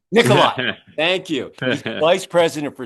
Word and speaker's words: Nikolai: And uh uh Nikolai, did I pronounce it right? Nikolai. Nikolai.